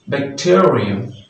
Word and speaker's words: bacterium: and the number two bacterium Aquarium bacteria this stress will be on the second syllable of the world bacterium